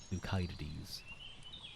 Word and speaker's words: Thucydides: I know some people pronounce it as, but I'm pretty sure back then it would have been the hard K, so it will be Thucydides.